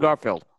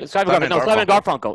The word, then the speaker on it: Garfunkel: Simon and Garfield. Simon Garfunkel. Yes. Garfunkel.